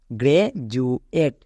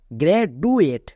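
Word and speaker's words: graduate: এ টি ই এট তাহলে কি দাঁড়ালো পুরোটা গ্রেজুয়েট একে অনেকে ভুল করে উচ্চারণ করে গ্রেডুয়েট তাদের এই ডি এর কনসেপ্ট ক্লিয়ার নাই তাই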